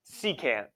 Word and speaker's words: secant: pronounce that bad boy secant secant okay not a sir can't see can't see can't see can't hit